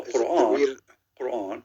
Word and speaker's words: Quran: No, Quran. Quran. Yeah, but the way you pronounce it in Aramaic.